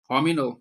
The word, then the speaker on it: Hominal: We're talking to Nlesa and Mari Caroline um Homino. Did I pronounce that correctly?